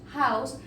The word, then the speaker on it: house: Entonces tenemos house. House inicia con H, pero esta H se pronuncia como una J.